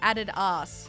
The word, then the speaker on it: Adidas: I just found out that Australians pronounce Adidas like added ass.